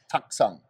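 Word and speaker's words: Taktsang: You got it right, Taksang.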